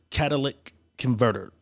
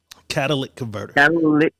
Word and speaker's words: catalytic converter: don't know what a Cadillac converter I always call it the Cadillac converter but it's a cattle how do you pronounce what's the real saying of the park catalytic converter people are stealing these